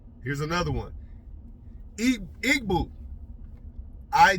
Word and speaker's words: Igbo: I igboo.